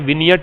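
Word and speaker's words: vignette: तो चलिए अगला वर्ड देखो विनियट इसका प्रोनंसिएशन विगनेट नहीं है विनियट है इसमें जीन साइलेंट रहता है विनियट लघु चित्रण या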